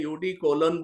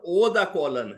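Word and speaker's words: eau de cologne: जो खुशबू आती है यूडी कोलन बोलते हैं यूडी कोलोन बोलते हैं तो वह सिखाते थे कि यह यह नहीं है उच्चारण ओ द कोलन है कोलोन है यू नहीं है इलाहाबाद की बातें है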